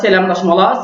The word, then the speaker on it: Selamlaşmalar: Donc selamlaşmalar, c'est lamlaşmalar. Donc, je veux dire que je vous ai dit que dans la langue turque, toutes les lettres se prononcent et chaque lettre a son son unique à lui.